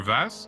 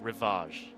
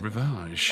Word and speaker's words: Rivage: You got to pronounce it like a Frenchman. It's Rivage. Oh, Rivage.